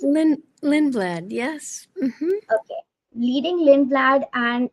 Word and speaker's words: Lindblad: Is that how you pronounce it? Lindblad, yes.